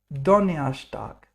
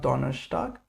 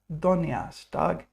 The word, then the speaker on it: Donnerstag: Donnerstag, not Donnerstag, Donnerstag, because the R is pronounced like er, Donnerstag.